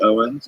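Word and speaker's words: Eoghan: Your name is Eokin, pronounced Owens, so use that.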